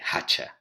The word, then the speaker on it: hacha: The hacha in Castilian Spanish, that H is not pronounced. In Andalusian, we do pronounce that H, and we say hacha, where it's an aspirated H that actually comes from Latin, from the old F in Latin.